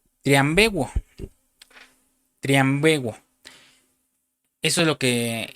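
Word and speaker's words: θριαμβεύω: El apóstol Pablo se refiere en una palabra eh cuando dice aquí triunfando en el versículo 15, perdón, usa una palabra griega que se pronuncia triambuo.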